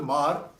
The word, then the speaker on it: Hmar: Now, when this troubled times in Manipur, a place like Jiribam, where the Mar population, it's HMAR, pronounced as Mar, which they are affiliated towards the Mizoram, towards the Mizos, they come under, affiliated towards the Kuki tribe.